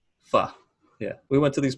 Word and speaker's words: pho: Pho. Pho.